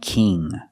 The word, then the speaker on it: king: Kin and king.